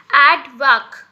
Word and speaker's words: aardvark: एड वैक, यानी कि इसका प्रोनाउंसिएशन कैसे करोगे, मैंने यहाँ पे ऊपर लिखा है AAD, ठीक है। और उसके बाद आप वी, और दूसरा पार्ट को कैसे आप प्रोनाउंस करोगे, VAAK, तो हो जाएगा एडवैक, ओके, आड वाक, ऐसे